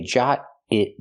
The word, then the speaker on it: jot it: So I say jot it down. Pronunciation, jot it down. We hear the T in jot change to a fast D because now it's between vowels. Jot it, jot it.